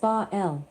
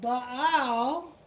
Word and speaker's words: Baal: Baal, pronounced Baal, was a Canaanite storm god. Hear that Bal pronounced Ba was a Canaanite storm god.